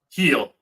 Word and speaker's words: Gil: G now it's not Gil right it's Jill how do you pronounce it heel yeah like like Achilles heel yep all right well